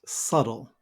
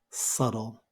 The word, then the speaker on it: subtle: time okay it's pronounced subtle we have the silent B and I'm also using that pronunciation of T where I change it to a d so it sounds like subtle subtle you may want